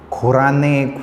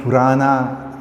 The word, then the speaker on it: Koranne: Make a proper pronunciation. Koranne, Kurana, no, nothing like that. Koranne, very simple.